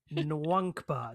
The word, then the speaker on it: Nwankpa: Yeah Nwankpa. Now it is uh I have been told it is pronounced that way but N W A N K P A that's how you spell it.